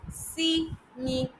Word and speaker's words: simile: So the first figure of speech we'll be looking at in today's class is see me. Three syllables. Simil.